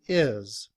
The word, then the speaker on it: his: looks like this however in reduced form we don't pronounce the h we just say is when that's combined with